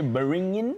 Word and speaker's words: beringin: Okay, beringin, or you call it the bring it in rice. If you can't pronounce it properly, B-E-R-I-N-G-I-N. 1 point for you.